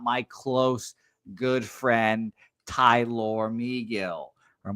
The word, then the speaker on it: Megill: here and not my close, good friend, Tyler Megill. Or McGill is actually pronounced here.